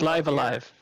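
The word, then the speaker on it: Live A Live: back from my little vacay levivi olivi it's pronounced so let's start it's live alive in the upper left-hand corner it's live alive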